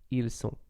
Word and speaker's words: sont: But of course, you should prefer ils sont. And then elles sont, once again, you don't pronounce the T, the final T of sont.